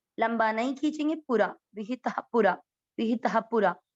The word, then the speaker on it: पुरा: पू छोटी मात्रा है, लंबा नहीं खींचेंगे, पूरा, विहितः पूरा, विहितः पूरा, पूरा ऐसे कोई नहीं बोलेंगे।